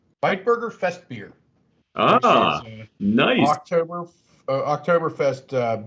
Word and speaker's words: Bitburger: I've got, I believe you pronounce this with an I, and you highlight the I there. So it's Bitburger Fest beer.